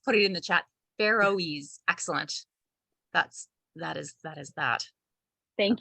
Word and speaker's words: Faroese: Faroese.